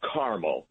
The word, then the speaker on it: Carmel: The pronunciation there is Carmel, unlike Carmel by the sea in California. Right, or Carmel that you eat.